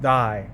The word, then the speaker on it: die: Now it's Now it's pronounced die.